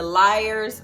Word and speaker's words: Lyre's: I made sure I'm pronouncing it correctly. The Lyre's Margarita.